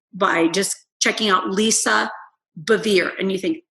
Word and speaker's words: Bevere: just checking out lisa bevere and you think how in the world do you spell that it's just like severe but with a b so lisa bevere b-e-v-e-r-e and instagram is